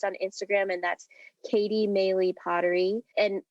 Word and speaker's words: Meili: with people most on Instagram and that's Katie meley potery and melee is spelled m i l i and it's actually